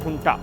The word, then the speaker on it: junta: अंग्रेजी में स्पेलिंग है JUNTA, लेकिन उच्चारण है हुंटा।